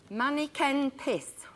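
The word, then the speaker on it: Manneken Pis: Manny Ken Piss. Malik peace. Yeah, you were absolutely right with your pronunciation, madam.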